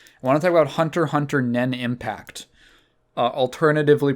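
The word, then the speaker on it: Hunter × Hunter Nen × Impact: I want to talk about Hunter Nen Impact. Alternatively pronounced Hunter x Hunter Nen x Impact. No, you do not pronounce the X's.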